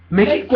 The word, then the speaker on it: México: México es con... X. Por eso, México es con X, pero se pronuncia con J. México.